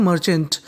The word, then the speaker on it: merchant: अगर आप मर्चेंट को बोलना चाहें तो इसे हम लोग बोल सकते हैं मर्चेंट, और इसमें आर का उच्चारण ना के बराबर करना है, सामने वाले इंसान को पता ना चल पाए कि आपने आर बोला है कि नहीं बोला।